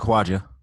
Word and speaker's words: Kawaja: And since then, I have received an inquiry from I hope I'm pronouncing his name correctly, Kawaja. Kawaja. Yeah, it's pronounced Kawaja.